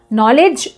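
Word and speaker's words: knowledge: नॉलेज नॉलेज जो शब्द है, नॉलेज शब्द में के साइलेंट होता है।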